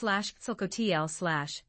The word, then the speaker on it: Quetzalcoatl: Quetzalcoatl, pronounced /Quetzalcoatl/, is a deity in Aztec culture and literature, known as the feathered serpent in Nahuatl.